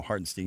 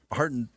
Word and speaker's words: Hartenstein: But, you know, Hartenstein can't go that or Harden Hartenstein is how you pronounce that one.